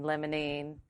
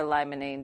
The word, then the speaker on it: limonene: So those are the aromatic molecules that people are talking about, myrcene, limonene, or limonene, depending on how you say it, pinene.